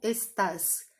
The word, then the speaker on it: estás: ser sempre a penúltima, com exceção do verbo estar, que é tu estás. É o único caso na língua espanhola, pelo menos que eu me lembre agora, que nós vamos ter o tu, tá? A segunda pessoa do singular, com o uso do tuteu, a última sílaba mais forte, e por isso ela